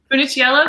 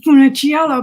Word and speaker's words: Funiciello: much discussion of tyranny of kindness by Theresa Finnish yell okay Anna is that how you'd say your